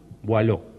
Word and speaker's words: Boileau: nadie lee ya más el arte poética de Boileau, ¿no? Boileau se escribe B larga O-I-L-E-A-U. Boileau.